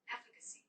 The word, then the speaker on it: efficacy: lady with the oval chin and pretty lips pronounce it efficacy efficacy efficacy efficacy now i had to practice